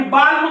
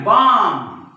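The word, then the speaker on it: balm: चा उच्चार होत नाही याला कोणी बालम म्हणेल हे बालम नाही बाम हे पाम नाही पाम म्हणजे इथं सुद्धा एल सायलेंट आहे मग हा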